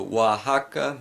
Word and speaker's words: Oaxaca: word Mexico now here the X is not pronounced helix or sir but rather more like the Spanish letter Horton so wha Hakka Mexico and the reason for this is because